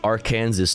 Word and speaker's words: Aransas: nice well that's fun it's pronounced aranes tofu I know that's